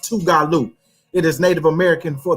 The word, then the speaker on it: Tougaloo: It's pronounced Tougaloo.